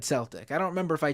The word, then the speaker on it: Celtic: couple weeks ago on Mr regarding Celtic it's pronounced Celtic it's a soft sea I said that actually they corrected me on the either Matt or Matt Le or Emma corrected me and said it's probably Celtic I said Celtic at first uh and I